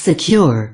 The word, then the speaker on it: CQR: loose from the bottom cqr pronounced secure is a plow anchor